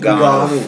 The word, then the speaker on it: Ngannou: How do you pronounce his name? Ngannou.